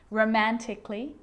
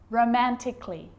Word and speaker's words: romantically: the letter a now the letter a can be silent especially in words that end in a l l y like these romantically musically logically so i'm